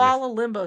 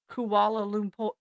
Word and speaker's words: Kuala Lumpur: Kuala Limbo something. Yeah, So I know it's Kuala Lumpur. Kuala Lumpur. yeah, Kuala Lumpur, which Kuala is Lumpur.